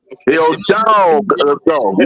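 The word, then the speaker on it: Hidalgo: year's draft I'm taking Hill Dogo I would too you got say it correctly you gota say dog go yeah trust me as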